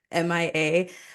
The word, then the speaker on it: Mea: know mea yeah Mia I'm used to M A not the M it's but it's that's what that's what's crazy is that it is spelled mea so it's literally M but like you know if you don't um if I'm like meeting you in person I say oh my name is Mia then like they automatically think